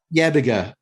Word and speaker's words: Yebiga: Yebiga. Yebiga, from the plum tree to the bottle here in the Corner No Hope.